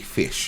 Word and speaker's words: Phish: Oh, there's this group in America called Fish. Yo, That really is a group. It's spelled PHISH.